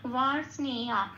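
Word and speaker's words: বার্ষ্ণেয়: কারণ এখানে বয় আকার আছে, তাহলে উচ্চারণটা হবে ওয়া।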